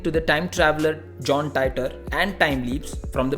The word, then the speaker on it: Titor: Tied off here is pronounced as Titor, referring to John Titor, who claimed to be a time traveler.